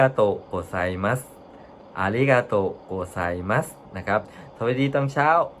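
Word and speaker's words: ありがとうございます: ฉาย เสียง ระดับ เดียว ใน การ ออก เสียง ภาษา ญี่ปุ่น นะ ครับ ใช้ เสียง ประดับ เดียว นะ ครับ เหมือน อ่า มัน จะ ต่าง จาก ภาษา ไทย ภาษา ไทย เรา จะ มี ขึ้น มี ลง ใช่ ไหม ครับ มี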